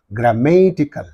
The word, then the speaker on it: grammatical: suffix is there and therefore what is the syllable preceding the suffix means this one only therefore grammatical scientific so in this I is there okay